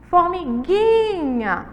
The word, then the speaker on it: formiguinha: Então aí, ó, formiguinha, o gui, nunca, depois promessa, depois seguinte e por fim honrada.